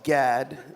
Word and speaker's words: Gad: last name the last name so it's just pronounced Gad the uh the other letters that don't exist